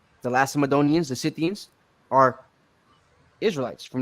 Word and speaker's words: Lacedaemonians: Which is how they became the Lacedaemonians, or Lacedaemonians. You got, which is really how you pronounce it, Lace, because the C is an S sound in Greek.